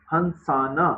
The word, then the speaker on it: ہنسانا: ہنسانا، نون بولنا ہے آپ نے.